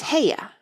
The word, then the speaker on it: Haigha: happy his name is haigha he pronounced it so as to rhyme with Mayor I love my love